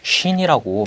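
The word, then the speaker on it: شين: 이 자음은 쉰이라고 발음을 하고요. 이 쉰의 음가는 여기에서는 소문자 S에 살짝 V 모양이 이렇게 표시가 되어 있는데 영어에서는 SH와 비슷하다고 보시면 되겠습니다.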